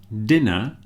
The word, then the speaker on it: dinner: Dinner, the I sounds different because there are two N's in dinner, one N in diner.